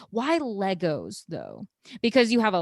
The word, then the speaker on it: LEGO: going to first say it's lego not legos there is no plural because it's a company name a lego brick you